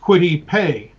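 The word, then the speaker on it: Kwity Paye: about it so it i you know it's pronounced quittipe and i just write that in phonetically as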